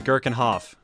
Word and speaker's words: Gherkinoff: Tom pronounces it right, like the pickle, yeah. not what you do with it. You know what? Fair. Fair enough. Incroyable. So is Gherkinoff.